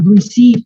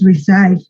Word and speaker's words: receive: Tengo que cambiar las letras, pero la pronunciación es la misma. Receive, no es reside.